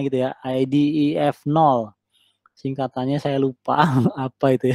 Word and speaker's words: IDEF0: Kemudian ada lagi yang ini IDEF0, ini bacanya gitu ya, IDEF0.